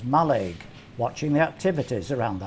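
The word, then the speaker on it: Mallaig: wandered around the village which the locals pronounce as maleg watching the activities around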